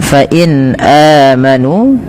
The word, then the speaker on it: فإن آمنوا: Baik, pada lafal bacaan fa'in amanu, pada lafal nun sukun bertemu dengan hamzah, ini suara nunnya dibaca dengan jelas karena ia ada bacaan yang kita namakan dengan izhar halqi.